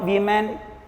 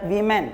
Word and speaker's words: women: is plural you know the pronunciation is different woman woman is singular and women wme and women is a plural and there are two